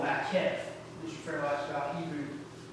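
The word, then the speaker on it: maqqef: Now, in the construct state, sometimes you will see ish repeated with what's called a makef. Mr. Farrell asked about Hebrew pronunciation.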